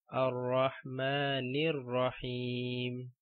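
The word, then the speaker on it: الرَّحْمَٰنِ الرَّحِيمِ: And this one, Ar-Rahmanir Rahim.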